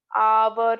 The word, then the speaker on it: hour: I met him an hour ago. So here also H is considered silent.